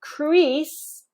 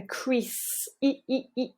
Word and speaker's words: crease: neutral Chris Chris Chris whereas for crease a crease we're adding lots of muscle exertion into the tongue and the tongue tip come slightly closer to the teeth but don't worry too